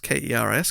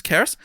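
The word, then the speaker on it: Cerys: It's Welsh, lol, because it's spelled Cereys, but he's pronounced Keris. Keris, who has graduated from medical school and starts life as a doctor soon.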